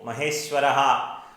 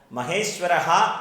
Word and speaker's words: മഹേശ്വരഃ: അപ്പോൾ മഹേശ്വരഃ എന്ന് തന്നെ ജപിക്കണം, മഹേശ്വര എന്ന് അല്ല ജപിക്കേണ്ടത്. ഇത് സംസ്കൃതത്തിൽ വിസർഗമാണ്. അവിടെ മഹേശ്വരഃ എന്ന് ജപിക്കുക.